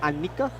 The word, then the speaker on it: Annika: That's how you pronounce it, Annika? Long A. Long A. Annika. Okay. Annika Eklund. Okay, Eklund. Say it with me, metrosexual. Annika. Annika. Not Hanukkah, the holiday.